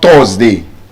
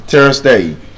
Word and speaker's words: Thursday: Pronounce this words correctly. Burn. Turn. Not turn. You don't turn to the right or turn to the left. You turn. Long sound. Again, there are patterns. You are in a word. Burn. Turn. Urge. Search. You are in the word. They are patterns. It's not Thursday. Thursday sound. Thursday.